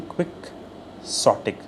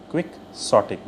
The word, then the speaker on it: quixotic: Pronunciation quixotic. quixotic.